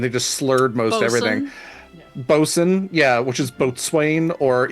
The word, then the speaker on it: boatswain: And half the things are spelled differently than how they're said, because like sailors just had terrible pronunciation and they just slurred most everything. Bosun, yeah, which is boatswain, or even forecastle, which is forecastle, and they're like, fuck that, forecastle.